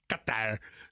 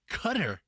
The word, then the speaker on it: Qatar: How much does a 360-pound fish from the Sea of Croatia to Doha, Qatar, to the U.S., how much does that cost?